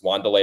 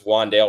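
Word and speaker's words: Wan'Dale: saying his name and I say it wrong on purpose W delay Robinson know it's juandale Robinson he's W delay to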